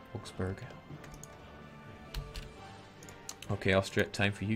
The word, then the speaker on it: Augsburg: The U in Berg is pronounced like a moo. Augsburg. It doesn't sound right. Augsburg.